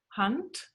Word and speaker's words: Hand: We pronounce the A differently, and the and consonant, which is a D, written as a D, in German we pronounce pretty hard as a T, like a hand, like, Entschuldigung, sorry, like Hand.